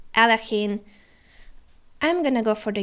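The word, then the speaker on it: Alekhine: Whoa, the Alachin defense, or Aljochin, or Alekine. So many pronunciations for one brilliant chess player. Alachin.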